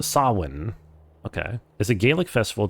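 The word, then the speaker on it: Samhain: Uh, approximately pronounced sawin.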